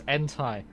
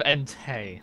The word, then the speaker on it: Entei: It's funny because he says, look, guys, it's Entai. Entei. Instead of Entei.